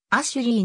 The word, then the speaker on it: Ashley: れることがある英語の発音はアシュリーに近いメアリーケイトの場合